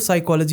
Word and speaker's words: psychology: have the silence right the P of psychology is silent the knife of The K of night is silent.